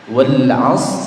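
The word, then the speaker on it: والعصر: Wal 'asr sama ya. Jadi ra-nya juga disukunkan. Hanya saja dia tidak dibaca sempurna.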